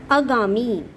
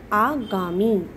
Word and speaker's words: आगामी: करनी है देख करके अगामी अगामी गलत होता है इसका शुद्ध उच्चारण होता है आगामी तिथि तिथि पर एक